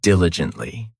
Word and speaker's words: diligently: Next, we have diligently. This adverb has 4 syllables, and the stress is on that first syllable.